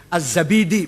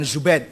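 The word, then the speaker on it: الزبيدي: enggak ada asma asma azzabidi bukan zubaid zabid apalagi jadi jadi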